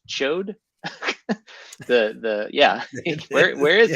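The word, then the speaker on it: Ch'od: saying this incorrectly but I believe it's pronounced chode the the yeah where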